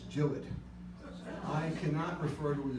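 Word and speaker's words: Gillott: different and and by the way it's not pronounced jalot to my amazement Bob Herford went over to England to the pen shop and they were very upset with his pronunciation it's not gillot it's gilled I cannot refer to it as Jill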